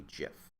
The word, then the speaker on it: GIF: simple animation called a gif uh that is how it's pronounced the G is pronounced like A J don't get me started